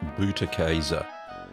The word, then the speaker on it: Butterkäse: It's pronounced butterkäse.